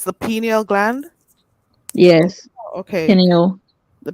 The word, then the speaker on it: pineal: it's pronounced pineal? So it's the pineal gland.